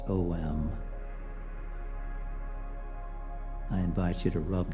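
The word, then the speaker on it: ॐ: that beautiful sacred Sanskrit word om pronounced om.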